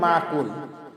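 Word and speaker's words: مَأْكُول: মিম হামজা জবর মা, আমরা অনেক বলি মাকুল, মাকুল। এই যে হামজার উচ্চারণটাকে আমরা অনেক সময় করি না, এটা আমাদের মারাত্মক ভুল হবে। একটু হালকা ধাক্কা দিয়ে বলবো মা কুল, মা কুল, কুলে 3 আলিফ টান দিব।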